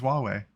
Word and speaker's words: Huawei: yeah Huawei big words no that's literally how it's pronounced it's Huawei wow consonance in that